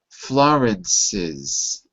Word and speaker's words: Florence's: You're missing a syllable. Florence's. Okay, Florence's. Right, you have to show possession. So Florence, unfortunately, you have to add an extra syllable because of the way the word ends. You have to add this S at the end of Florence.